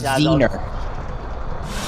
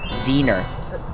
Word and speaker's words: Wiener: Yeah, it's Vener. Spell it. Spell it the German way. Vener. The way with a with a V.